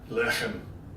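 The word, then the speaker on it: לחם: Lechem.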